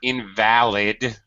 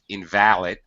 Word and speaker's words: invalid: that's a little confusing be careful of this word invalid as an adjective invalid right it can also be an a noun right Victor are you aware of that okay yes yeah an invalid we pronounce it completely differently somebody right somebody